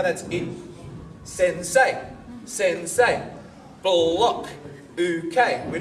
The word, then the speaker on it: sensei: Everyone say sen. Say. Sensei. That remained 2 syllables, but there was a pause in between, right? Hey. Wrong. As in, that's not how we say the word.